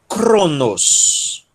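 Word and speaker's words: χρόνος: O ki é o capa aspirado, né? K. Aí nós temos um rho e um ômicron. Cro, cro, sílaba tônica. Nos, cronos, cronos.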